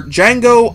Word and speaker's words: Django: trailer for judging for Django Unchained the D is silent as the movie lets